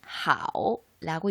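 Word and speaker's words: 好: 조로자 중국어로는 하오라고 읽습니다.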